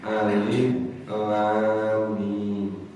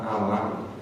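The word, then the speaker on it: الم: alif lam dan mim itu membacanya harus perhuruf hijaiah Alif Lam Mim tidak boleh dibaca alam atau dibaca Alim Kenapa demikian malaikat dulu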